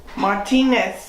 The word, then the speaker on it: Martinets: Martinez. Martinez. It's like the Spanish names sound, but they said it was, and Henry Hoybeck verified that it's a Czech name. Martinez is, there's a lot of Martinez's in Czech.